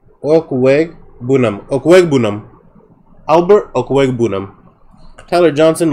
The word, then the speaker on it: Okwegbunam: Okay, Gawubanum.